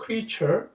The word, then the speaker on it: creature: creature. T-U-R-E, creature. 발음 조심하셔야 됩니다. create, creature, 피조물이라는 뜻이죠.